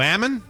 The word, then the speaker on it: almond: PS here in rippen Almond is PR pronounced like salmon so Ammon Ammon they don't say yeah